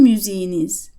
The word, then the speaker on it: müziğiniz: Müzik, music, ends in a K, so it becomes a soft G. Sizin müziğiniz, your music, plural formal.